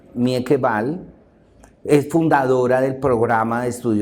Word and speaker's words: Mieke Bal: El texto de Mika Bao. De hecho, Mika Bao es Mieke. Se escribe Mieke con K. Es el nombre, el apellido es B-A-L. Mieke Bal.